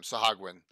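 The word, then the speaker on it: Sahuagin: Sahagwin. That's how we always pronounce it. Sometime if we ever run into Steve Marsh, we can ask him, right? Yeah, well, yeah. According to Alron, he says Sogwin is how Steve Marsh says it.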